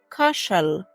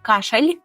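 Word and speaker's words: kaszel: Єдине, ее останній звук він буде не такий, як в українському ль кашаль, а пов'єми кашал. Кашел. Якщо ви добре почули, то л воно наше таке специфічне. Так, це не кашель український, це кашел. Кашел.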